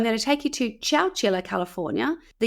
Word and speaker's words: Chowchilla: I'm going to take you to Chowchilla, and it is spelt like you think, Chowchilla, Chowchilla.